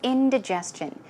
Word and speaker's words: indigestion: The next one is indigestion. Now, as I mentioned earlier, there are two ways of pronouncing this, but the most common way of pronouncing it is the first one.